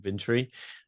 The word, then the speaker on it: Vintory: CEO of uh vintory so think infantry vintry and we're really going